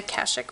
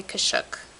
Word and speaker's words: Kashuk: with that same Sonia kashik brush I don't know why some people say kashuk but that to my knowledge is not how you pronounce it and I'm to stick